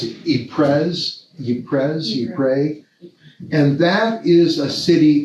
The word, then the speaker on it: Ypres: And he was a bishop of, how do you pronounce it? Ypres.